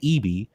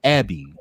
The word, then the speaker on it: Abby: met Abby Reviews, who I used to say Eby until L Teddy told me that it's pronounced Abby.